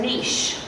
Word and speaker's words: niche: sexual Freedom as a niche I said it has its way because that's the way she likes it I like Jason Lynette's way Niche because it rhymes with Rich so anyway I don't